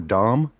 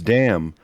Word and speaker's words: Damm: one because I was curious if it was damn or Dom and it turns out it's damn but it also turns